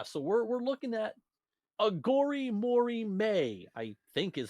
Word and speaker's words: Aghori Mhori Mei: uh so yeah so we're we're looking at aor Mory may I think is how it's said there's an